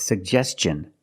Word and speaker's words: suggestion: pronounce both of them the first G is a hard G sound sug and the second G is the J sound like juice and jump pronounce both sugest suggestion